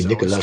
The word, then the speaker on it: Nicolas: So in France, the S at the end of Nicolas is silent.